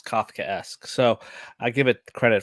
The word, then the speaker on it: Kafkaesque: learned how to from the best now that's kofka ask all right well this episode did teach me how to pronounce Kafkaesque so I give it credit for give it